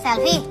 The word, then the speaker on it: Selvi: Selfie. Itu tulisannya Sylvie. Selfie. Itu tulisannya kalau bahasa Inggris bacanya Sylvie.